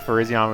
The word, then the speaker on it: Virizion: I used to think Virizion was pronounced like Verizon.